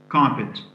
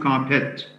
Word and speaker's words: carpet: contain a stressed syllable the word carpet has its first syllable stressed carpet so it's not carpet didn't it's never didn't